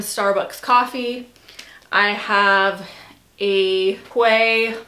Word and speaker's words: Quay: I have a quay, well, I think you pronounce it key, but it's for sunglasses, just like a little sunglass holder.